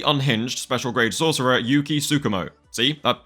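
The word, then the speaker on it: Tsukumo: by the slightly unhinged special grade sorcerer Yuki sukumo see that said it right that time Yuki's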